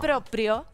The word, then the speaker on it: proprio: recién dijiste motu proprio se dice proprio en realidad en italiano se dice